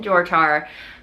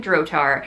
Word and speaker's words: Drotar: who d by Kim drar uh who I sincerely apologize I've been mispronouncing your name on the podcast and misspelling it on in the show notes but it's Kim drotar uh I will put